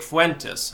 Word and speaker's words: Fuentes: Eastern on March 3rd so a couple days from now I will be debating Nick Fuentes I believe that's how you pronounce his last name correct me if I'm